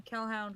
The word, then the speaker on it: Kelhound: I am on all the social medias as Kel, except for Twitter, where I'm Kelhound, which is spelled like Hellhound but with a K, and on Instagram, where I'm Kel Draws Comics on Insta.